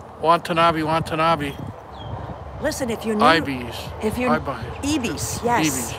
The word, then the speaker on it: ibis: Definitely ibis, yep. Ibis. That's how you say it, not ebis. Ibis. like an I, the letter I, and then bis.